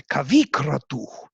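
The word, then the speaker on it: kavikratuḥ: Kavikratuh tells us that it is bahuvrihi because the accent is on the first member, kavikratuh.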